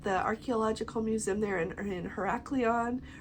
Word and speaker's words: Heraklion: They've got the archaeological museum there in Heraklion, or Heraklion, however you want to pronounce that. It's Heraklion.